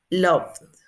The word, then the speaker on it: loved: Entonces va a ser con D, loved, loved.